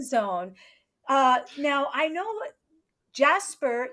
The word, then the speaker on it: Jesper: Well, right back to Well, since we're in the fun zone, uh, now I know Jasper, your name is pronounced Yesper in other countries as well.